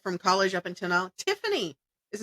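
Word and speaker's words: Tyfane: T YF A N E. And I was like, it's Tiffany.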